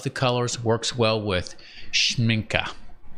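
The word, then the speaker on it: Schmincke: Works well with schminka. I've heard that pronounced schminky.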